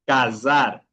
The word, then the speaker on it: casar: Por ejemplo, tenemos el verbo de casar, de casamiento en español y en portugués se pronunciaría como z cazar.